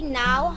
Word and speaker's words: know: না, আই ডু not exactly এখান থেকে। ও I don't exactly know how নাও না, নো, ওটা উচ্চারণ হবে নো। Know how.